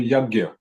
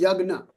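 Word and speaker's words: यज्ञ: So, for example, in Yagya. Yes. So that's the northern Indian pronunciation. Okay. But for example, in Gujarat, it will be pronounced Yagna.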